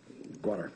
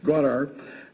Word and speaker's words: Gwadar: The province's major port, let me pronounce it, Gwadar, thank you. Thank you very much. Gwadar.